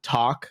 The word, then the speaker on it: TVLK: Is it pronounced talk or like TVLK or? Yeah, no, it is. It is talk. It's Talk Limited.